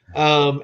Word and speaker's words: Itui: Itui, An Adventure to the End of the World.